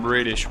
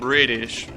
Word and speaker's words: British: son not from from British people well in fire that award is already mispronounced you know like it's not British it's British the tea is dropped in a lot of wars the tea and so